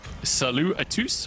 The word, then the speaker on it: Salut à tous: I'm not sure you pronounce the S at the end of it. Would not just be... You do, I asked.